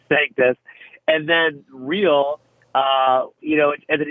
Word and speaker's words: Sanctus: But we say sanctus. And then real, as an English word, could also be a Latin word. So we've got a Latin word that we pronounce as though it's English, and then an English word that could be Latin.